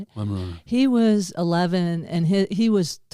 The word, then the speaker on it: Weimaraner: Weimaraner.